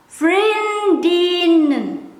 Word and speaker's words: vriendinnen: plural girlfriends, this one, some people might skip the letter N, but I will not skip. I will pronounce the skip first. Vriendin, vriendin, vriendin. I will pronounce this as vriendinnen.